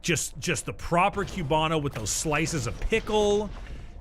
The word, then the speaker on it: Cubano: Like just the proper Cubano with those slices of pickle and getting the right cuts and you press that shit properly. Oh, it's Cubano, not Cubano. Oh, it's Cubano is how it's pronounced.